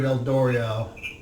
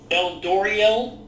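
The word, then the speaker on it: Eldorial: There you will speak to Archdruid Eldoriel. Eldoriel? Yes. I'm going to spell that E-L-D-O-R-I-A-L.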